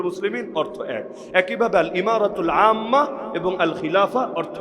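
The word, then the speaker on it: إمارة: দিয়েছে কি ইমারা আল ইমারাতুল ইসলামিয়া একই ভাবে ওই যে আরবে আমিরাত নাম নাম শোনেন নাই? শোনেন নাই? ইউনাইটেড আরব আমিরাতস ওই এমিরাত যেটা আমিরাত যেটা ওইটারই আরবি উচ্চারণ হলো ইমারা। মূল উচ্চারণ ইমারা।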